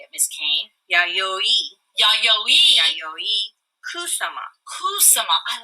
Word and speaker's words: Yayoi Kusama: ahead of time, but I say it as Yayoi Kusama. Now, how would you say it, Miss Kane? Yayoi. Yayoi. Yayoi Kusama.